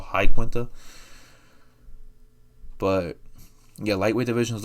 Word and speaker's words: Iaquinta: And it was Iaquinta or Iaquinta. I mean, Al Iaquinta ended up having a interview with Ariel Helwani not that long ago, and he feels like it's pronounced that way, so I'm gonna go with Al Iaquinta.